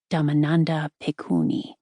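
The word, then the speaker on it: Dhammananda Bhikkhuni: The woman who uttered these words was venerable Damandanda Pikuni pronounced Damandanda Pikuni.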